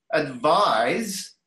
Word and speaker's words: advise: Advise, which has that Z sound, advise, is a verb.